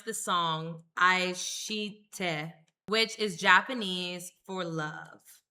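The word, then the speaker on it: 愛して: So I looked up how to pronounce this song, Aishite, which is Japanese for love.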